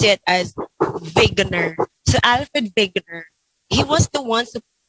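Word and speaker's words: Wegener: drift was proposed by Alfred Veer will you pronounce it as vigner so Alfred vigner he was the on who proposed a theory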